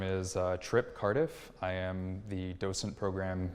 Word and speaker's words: Cardiff: to kill so okay my name is Tripp Cardiff I am the docent program manager at the